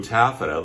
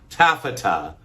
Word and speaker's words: taffeta: Little Missy in her little uh jumper in a blue taffida. Looks quilted, too. Well, anyway, but we're not talking about quilted taffa. Taffeta. Taffeta. It's taffeta. It has three syllables.